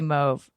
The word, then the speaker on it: mauve: pete apparently pronounces it move as well and and people in england and canada there's parts of the country that say move and parts of the